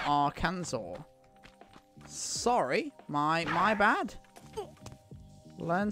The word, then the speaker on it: Arkansas: what kansas not arkans what kansas not our kansas it's arkansas yeah america explain explain nikki